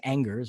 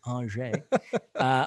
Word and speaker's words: Angers: in their hands uh they are away to anger it's pronounced uh i know you want to say angers but uh it's andre well psg are a way to breast uh